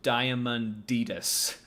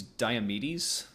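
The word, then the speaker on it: Diomedes: Thou must steal to flesheater horse from diamonditus. She pronounced. Yeah. P pronounced guys. I think she means diamedes.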